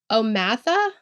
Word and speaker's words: O'Mather: I watched some of the court TV, the trial of it, and the way that she pronounced it was Omatha. Omatha, okay. Because O'Mather sounds like a her name to me.